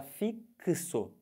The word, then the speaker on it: fixo: fonética se você fala fixo quando você fala essa letra x nessa palavra ela tem som de que se Ou seja é uma letra que tem dois sons representa dois fonemas daí você vai ficar